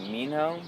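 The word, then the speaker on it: Minho: His his name is uh Mino. It's spelled M I N H O.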